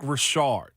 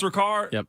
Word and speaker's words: Ricard: former D lineman Patrick Rashard isard it's Ricard well our pronunciation was bad in Pittsburgh we call him Rashard pronunciation yes anunciation pronunciation